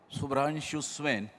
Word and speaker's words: Subhranshu Swain: Subhranshu Swain, correct? Yes, properly pronounced.